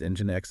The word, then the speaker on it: NGINX: web servers MH specifically ngx pronounced engine X and traffic pronounce traffic